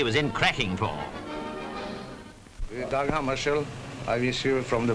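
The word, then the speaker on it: Hammarskjöld: Well, I pronounce it myself in Swedish Hammarskjold.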